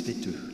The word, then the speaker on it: Vetö: C'est simple, V-E-T-O, ça se prononce V-E-T-E, c'est logique.